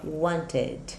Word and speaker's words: wanted: Wanted. Pronúncia completo.